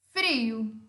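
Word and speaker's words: frío: Frio, eu tenho uma vogal fechada, tônica, e uma vogal aberta, que é o O. Frio, frio.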